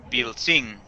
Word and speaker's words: pilsin: Podemos ver que esta se acentúa en la última sílaba, en la sílaba sin.